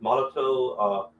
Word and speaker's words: Molotow: I got one of these Molotow, it's pronounced Molotow, liquid chrome.